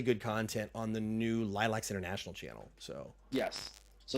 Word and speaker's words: Laylax: instead of L8 there you go definitive answer lilacs and I still mispronounce it so what's new in the word